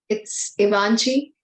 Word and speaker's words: Givenchy: It's French word, so it's Givenchy.